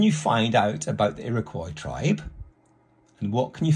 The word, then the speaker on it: Iroquois: a tribe called the Iroquois an Iroquois is pronounced Iroquois and they lived in the area that is